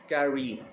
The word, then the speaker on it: carry: In this word the first syllable का, ये जो कार लिखा हुआ है is more stressed than re. Carry.